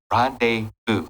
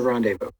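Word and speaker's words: rendezvous: crazy but then she had this randev Rondevu Rondevu that's how you say it revu right Point yeah that's a rendevu right with the count because obviously he took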